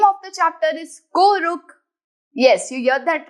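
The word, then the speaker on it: कोऽरुक्: The purpose of avagraha is to skip it while pronouncing the word. So इसे बोलने के लिए we will directly say ko ruk.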